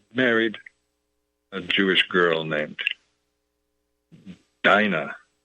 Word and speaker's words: Dinah: I hope that's the right pronunciation, but it should be fair. The spelling is exactly the same as a name that's common in Ireland. Maybe it's pronounced Dina. In any case, it sounds a lot like dinner time.